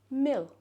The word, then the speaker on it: mil: Not milk. Mill. Some people might say it like meal, but that's different. That's different again. You know. Mill. Mill. Exactly the same as Scottish Gaelic.